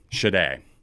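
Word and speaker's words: Sade: Artist pronunciation. That's the toughest thing about some of these videos sometimes. Shade.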